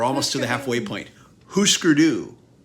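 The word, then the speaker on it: Hüsker Dü: we're almost to the halfway point Husker do it's Husker do right not huskerdu yeah that's what I've always thought it was huskerdu I've heard it pronounced different ways thing I think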